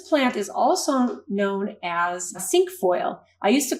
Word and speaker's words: cinquefoil: is also five but the way it's pronounced is sink foil so it has it